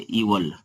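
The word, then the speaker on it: evil: ऐसे बैड, इल, और इसे एविल मत पढ़िए, इसे पढ़िए इवल, एविल नहीं इवल पढ़िए, सही है उच्चारण यही।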